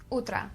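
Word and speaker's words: утра: would say do utra say it with me do utra utra morning do UT let's say it again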